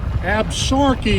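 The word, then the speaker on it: Absaroka: Mile Creek I'll show you some of the absuroka mountains absorky is how it's pronounced AB sorky that's an Indian word that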